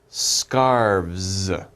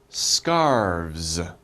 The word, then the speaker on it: scarves: or many we say scarves scarves okay do you guys try scarves scarves okay so we have V and s scarves okay don't pronounce the e scarves so one scarf